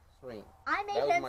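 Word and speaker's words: Syreen: The Y is silent, so I said Serene. Serene.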